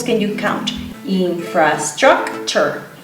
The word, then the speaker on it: infrastructure: So the T-U-R-E at the end of the word is pronounced ch, chur, all right? Like a chur, like in cheese. Infrastructure. So how many syllables can you count? Infrastructure.